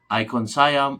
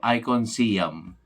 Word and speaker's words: Icon Siam: sayam or icon siam kasi icon eh IC o n tapos sayam is s i a it's it It will be pronounce icon sayam or icon siam nas sa inyo na